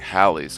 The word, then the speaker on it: Halley: kick off this show I remember growing up the comet was pronounced by everybody as Halley's Comet however the current accepted pronunciation is to be said like valleys comets so like Halley's Comet furthermore there are accounts